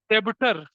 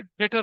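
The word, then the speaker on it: debtor: जैसे कुछ बच्चे बचपन में क्या बोलते हैं, डेबिटर, जबकि डेटर होता है वो।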